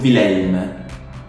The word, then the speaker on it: Willem: Then in Dutch, Willem. Willem. No, the W is pronounced like a V, so Willem.